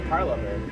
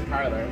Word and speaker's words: Parlovr: Some people say Parlovr and some people say Parlour. How do you say it? I often say Parlovr. He often says Parlour.